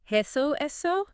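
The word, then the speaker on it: Jesús: So, in Spanish, it's heso. Okay. That soft J almost like an H sound. Emphasis on the second syllable.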